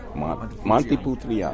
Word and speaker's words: Montepulciano: Montepulciano.